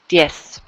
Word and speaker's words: diez: And again, that's a good example of when it doesn't buzz, right? It's just an S sound. Diez.